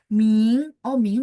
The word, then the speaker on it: 明: Ming berarti 2.